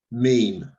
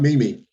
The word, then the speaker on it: meme: Meme. Oh, okay. I'm so glad you pronounced that right. Not Mimi.